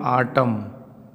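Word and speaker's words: autumn: जैसे यहाँ लिखे हैं आटम, यम के बाद देखिए यन दिया है तो इस यन का उच्चारण क्या हो जाएगा, साइलेंट हो जाएगा।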